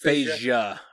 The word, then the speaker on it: Feyda: Whatever he's dead serious about Feyda being, or is it Feyda? It's pronounced Feyda.